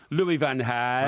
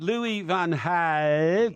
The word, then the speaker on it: Louis van Gaal: I've had an affinity all season because I pronounce his name like this, Louis van Gaal.